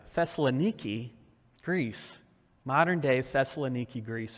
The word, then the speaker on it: Thessaloniki: which is and I looked this up to pronounce it right Thessaloniki Greece modern day Thessaloniki Greece is a real